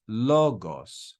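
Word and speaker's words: λόγος: so final Sigma and this word would be read as logos logos loog so we've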